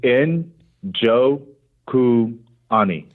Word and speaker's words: Njokuani: how you say it's in Jo ku honey thought yes that's it right there it's so easy all you say is you have to pronounce the end I don't understand why